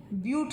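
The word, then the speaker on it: but-: BUT spelling है, लेकिन इसको प्रोनाउंस ब्यूट किया जाता है, BUTE, ये इसको प्रोनाउंस किया जाता है।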